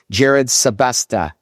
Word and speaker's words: Jerrid Sebesta: Speaking of, today we have a guest who exemplifies purposeful living, Jared Sylvesta. Did I pronounce that right?